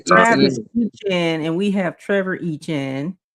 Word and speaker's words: Etienne: It's called E-Chain or something like that. We say Travis E-Chain. Etienne, and we have Trevor Etienne.